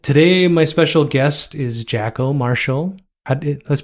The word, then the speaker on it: Jacquôt: I like it today my special guest is Jacko Marshall let's pronounce it correctly Jaco jackal yeah Marshall you got it um Jaco